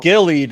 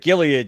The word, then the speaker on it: Gilead: of certain scientific terms you said gillied instead of Gilead you you uncultured swine